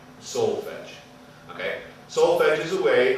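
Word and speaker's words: solfège: You'll hear some people mispronounce the solfeggi. Solfege.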